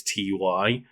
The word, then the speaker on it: Ty: or whether it was TY. I always pronounce it Ty because it's the guy's name. But exactly, it's a guy's name. It's Ty. Like it's not a logo of like capital T, capital Y.